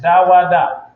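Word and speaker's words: דוד: Da wa da.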